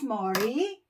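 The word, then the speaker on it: 머리: Head is mori.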